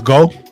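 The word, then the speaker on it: Geaux: pronounce g au um g e a u x is that go I I don't how to pronounce that. Oh, that's go.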